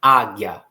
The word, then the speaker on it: águia: E aí, quando nós pronunciamos a palavra águia, nós percebemos que o A fica bem mais pronunciado do que o I, que é bem rapidinho.